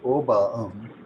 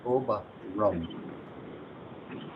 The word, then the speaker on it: oberum: So you wouldn't say oba but you would say oba rum. That's why it's spelled like that.